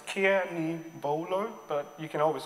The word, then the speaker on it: Kenigbolo: is Kenny bolamea cannibalo is pronounced as Kiani bolo but you can always